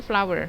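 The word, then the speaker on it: flour: jagung honey CY flower ini floor tepung ini bacanya flower ya kak ya tulisannya flower kita bacanya flower Hai yellow cornflower kemudian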